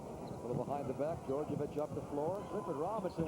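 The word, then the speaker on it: Djordjevic: Called on Georgievich, and that's the way it is pronounced. It is spelled D-J-O-R-D-J-E-V-I-C. It's pronounced Georgievich.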